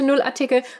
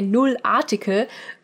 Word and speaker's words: Nullartikel: We also use a Nullartikel. By the way, I keep wanting to say Nullartikel because I'm speaking English to you, but important note, it's pronounced Nullartikel.